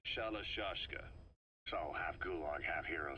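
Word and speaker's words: Shalashaska: Someone must have known about that, because somewhere along the line, Shashka got stuck on the end of Sharashka. The guerrillas were using the name amongst themselves. By the time I got to hearing about it, pronunciation had wound up as Shalashashka.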